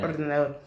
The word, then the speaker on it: ordenador: La R al final se pronuncia fuerte. Yeah. Ordenador.